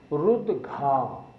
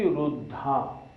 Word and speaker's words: रुद्घा: हम सब लोग मोस्टली इसको गलत बोलते हैं। शब्द क्या है? रुद्घा। हम बोलते हैं वृष्टि रुद्धा। रुद्धा नहीं बोलना, इसको रुद्घा बोलना है।